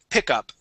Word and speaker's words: pickup: this word here uh be careful with your short eye okay so we want to say pick instead of peak PE pickup okay pickup excellent nice